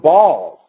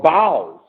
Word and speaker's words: Baals: Or they're called, the term is pronounced Baals or Baals.